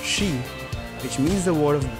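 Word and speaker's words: 四: Japanese find it unlucky because it's pronounced shi, which means the word of death.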